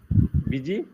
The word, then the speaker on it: busy: Busy. Busy, z, Busy. Busy. z. Busy. Okay, it is the same z that you use in music.